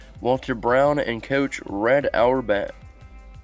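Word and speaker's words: Auerbach: Brown and Coach red our bat our back they're saying it right yeah our back draws draw Lots out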